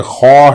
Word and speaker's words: خا: دوسرا حرف نہیں ہے۔ یہ خا ہے، عربی میں آپ اسے خا ہی پڑھیں گے، کیونکہ اردو اور ہندی کا کھا عربی میں نہیں ہے۔ عربی میں صرف